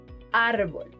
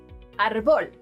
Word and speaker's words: árbol: For example: Fácil (easy) Lápiz (pencil) Árbol (tree) Notice that it is the second-to-last syllable the one being stressed; otherwise, the pronunciation would be facil, lapiz, arbol, neither of which exists in Spanish.